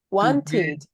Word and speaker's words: wanted: Wanted. Termina en una D.